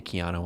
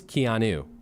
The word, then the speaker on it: Keanu: Keanu isn't that weird I say Keano a lot too unless I'm reading it Keanu Reeves I think I think that's the common mispronunciation of name wow I can't believe